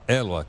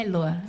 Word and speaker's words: Héloa: É aspirado? É, na verdade, a palavra original é Eloa, mas no Brasil ele ficou mudo, né?